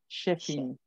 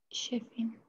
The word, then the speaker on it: Chefin: La CH se pronuncia como SH. Chef, Chefin. Chefin.